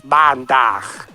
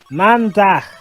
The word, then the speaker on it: Maandag: You're acting very, very, very random today, but anyway, Dutch for Monday is Maandag. Though you're pronouncing it wrong, it's Maandag. Maandag.